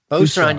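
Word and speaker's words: Booz Allen: Boozallen? Boozallen, you got it first time.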